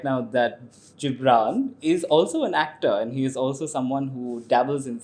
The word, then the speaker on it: Gibran: name with the j oh okay but it's gibran i was named after the famous oh see i mispronounced that again i said yeah okay um